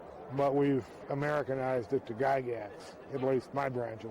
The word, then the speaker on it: Gygax: g a r y g y g ax pronounced in Switzerland gigx G but we've Americanized it to gagat at least my branch of the family has